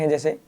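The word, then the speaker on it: hedge: से जी से पहले अगर आपको जी से पहले आपको डी लिखा हुआ मिल जाए तो वहां पर डी आपका साइलेंट रहेगा जैसे सबसे पहला जी से पहले डी है इसे बैज पढ़ेंगे इसे एज पढ़ेंगे इसे हेज पढ़ेंगे यहां पर कुछ डिफरेंट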